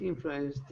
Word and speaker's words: influenced: Okay, so that last sentence, being unduly influenced with the influence and then the d sound. You want to try that one again? Yes, influenced. Good. Good. You're doing great with those final d pronunciations.